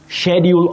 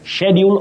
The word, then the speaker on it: schedule: Now, you say schedule of classes in standard pronunciation, schedule of classes. But in American English, you'll hear of schedule, which is not wrong as such, but we have some